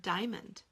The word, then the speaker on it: diamond: How about the word diamond? Diamond. 2 syllables, right? Well, what about that A? What do we do with the A that's in the middle that we don't hear in normal speech? We will think to spell diamond.